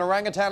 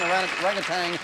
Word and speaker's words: orangutan: of the woods and orangutan is exactly what it is orangutan orangutang people pronounce it both ways you've got another five